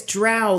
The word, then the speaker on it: drow: Oh, it's drow like cow.